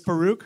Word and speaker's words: Faruk: on you guys welcome my name is Farooq that's how you pronounce it thank you or if